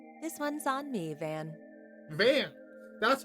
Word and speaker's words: Van: teeth first all right this one's on me Van van that's how you pronounce it okay thanks these little perks are